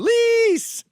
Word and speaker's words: police: The emphasis is on the second syllable for some reason. Lease!